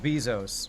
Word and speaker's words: Bezos: Jeff Bezos rhymes with Jesus.